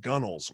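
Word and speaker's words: gunwale: to know that it spelled gun whales but pronounced gunnels or they would laugh at you it was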